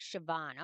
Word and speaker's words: Siobhan: time flies so oh sioban okay Coban sounds like Siobhan okay that's good to